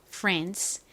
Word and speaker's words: France: France라고 발음합니다. France. 여기서 ANC가 ANS 소리가 난다고 말씀드렸죠? A가 에 소리가 나고 N은 니은 소리가 나죠? 그리고 단어의 끝에 CE가 오면 S 소리가 난다고 말씀드렸죠? 그래서 ANS 소리가 납니다.